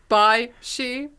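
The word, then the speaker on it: Bysshe: name which is always which is pronounced probably something like bish but i always read it as by she and because metal sings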